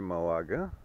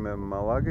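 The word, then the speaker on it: Málaga: на стотина километра преди малага малага малага да като им кажем малага и те не разбират като им кажем малага веднага се сеща удариш както трябва ударението ударението а пак сме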